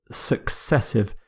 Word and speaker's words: successive: next word is successive successive it's similar to consecutive successive means something happens one after the other usually without a gap and the pronunciation success as in the word success of course so some examples of